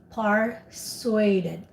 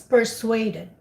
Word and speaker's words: persuaded: or your device so you use the persuaded but you pronounce it as part sueded so persuade it yeah it's not par it's per okay all right yeah it's persuaded tell me about my